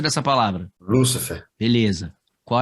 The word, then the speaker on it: Lúcifer: Aqui a palavra, observe que aqui tem um acento, ó.